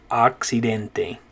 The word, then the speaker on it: occidente: a sound accident but in spanish it's an ah occidental occidente okay so notice that when